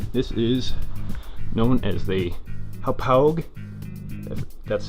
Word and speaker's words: Hauppauge: This is known as the Hauppauge, that's how you pronounce it, Hauppauge HD PVR2 game capture box.